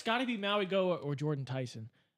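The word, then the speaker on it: Mauigoa: or I'm going to pronounce his name horribly, the tackle from Miami, Muaga. Maui Goa. Maui Goa.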